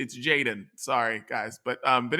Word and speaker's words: jxdn: you're gonna like uh jaden uh he's jaden is a 19 year old like travis barker calls him his protege um his name is spelled jxdn which is annoying perfect for me it's